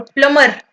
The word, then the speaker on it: plumber: ध्यान दोगे ना तो बी को साइलेंट करना पड़ेगा और प्लमर बोलना पड़ेगा।